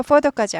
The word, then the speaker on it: photo: 포토에서 포더까지 약하돼요. 포더 포더 포더 빨리 하면 포더까지 되는데 그렇게까지 안 해도 포더 포더 포더 포더 ph가 f 발 바음나죠.